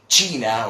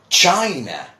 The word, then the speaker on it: China: Well, many people do say China, or obviously trying to, emulate or imitate the Spanish pronunciation, but this is China.